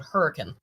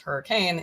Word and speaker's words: Hurricane: I'm talking about Ohio, so my West Virginia accent town in West Virginia called Hurricane. It's not pronounced hurricane, it's hurricane.